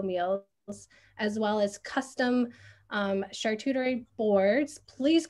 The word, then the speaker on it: charcuterie: plant-based and keto meals, as well as custom charcuterie boards. Please correct me if I said that word wrong. That word always trips me up. And catering for events. Yeah, how do you say that word, Lauren? Charcuterie.